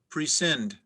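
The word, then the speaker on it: prescind: an alternate pronunciation matricide matricide matricide am i pronouncing it correctly yes matricide that's correct denise your word is pre-send could i have all of the information please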